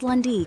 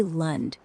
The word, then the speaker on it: Lund: I'd say Lund, rhymes with fund. But if it's Lundy, like Lundy, No, you let... it'd be Lund, as in rhyming with fund. There's no E thing.